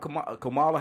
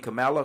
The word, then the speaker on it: Kamala: What about Kamala? How you say her name? Kamala?